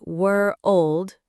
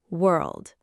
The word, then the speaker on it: world: A lot of learners say were old with two syllables, but it's actually just one syllable, world.